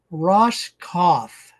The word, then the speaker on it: Roskopf: We're visiting with Ross Cauth. So, the P is silent.